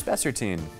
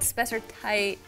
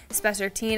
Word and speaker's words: spessartine: It's spessartine. Yes. Yeah. It used to be called spessartite. So you'll see it spelled like that, but now people call it spessartine.